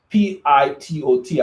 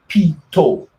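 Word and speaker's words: Pitot: the pronunciation is there it's pronounced like pito so a pito tube is a wind measuring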